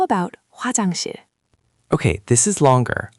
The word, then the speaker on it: 화장실: Hwa, ha is ha. Hwa, that looks like two vowels combined. Another great observation. Hwa is indeed a combination of O and A, making a wa sound. So hwa is Hwa. Then jang is j, a, ng, jang. And shil is s, i, il, shil, 화장실.